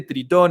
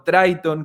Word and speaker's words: Tritón: Otro ejemplo interesante, 2017, Tritón o Triton, como depende cómo si lo pronuncias en inglés o lo pronuncias en español, que fue un ataque